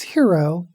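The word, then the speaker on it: Hiro: name of the main character is hero that's spelled like the Japanese first name h r o and the last name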